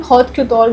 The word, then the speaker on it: haute couture: So they are dealing in more in haute couture garments in our fashion language, where it is made. The couture is pronounced as haute couture.